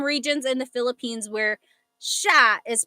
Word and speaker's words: siya: So it looks like it should be pronounced siya, right? It looks like that's how it's pronounced because that's how it's spelled siya. But the S-I-Y combination, that makes a sh sound.